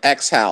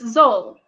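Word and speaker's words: X'Hal: I don't know what they called it, but they mispronounced it because it's Zol, and Yeah. they called it like something like. I think so. I think it was exhale or Was it? exhal. Yeah, or exhal or something like that.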